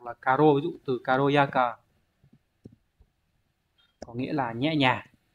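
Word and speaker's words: 軽やか: Và cách đọc khó của nó, có thể hỏi ở N2 hoặc N1 đấy, đọc là karo, ví dụ từ karoyaka, có nghĩa là nhẹ nhàng, di chuyển động tác nhẹ nhàng linh hoạt để dùng từ này.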